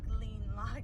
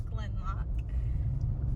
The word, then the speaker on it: Gleannloch: It's not pronounced Gleannloch, it is Glenloch.